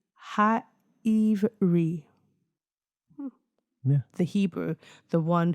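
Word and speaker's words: העברי: Pronunciation, Ha'ivri.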